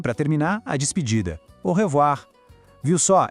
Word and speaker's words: au revoir: A despedida mais famosa e mais usada é au revoir. Vamos para a pronúncia. Au tem som de O, R, de novo ele, o R gutural.